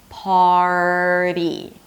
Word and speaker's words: party: Party. So hold out the R, make sure that you're actually pronouncing the R, and then move on to the flap T. Party.